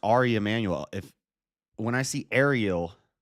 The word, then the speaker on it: Ari Emanuel: so it's Ari Emanuel it's pronounced it's just pronounced Ari Emanuel if when I see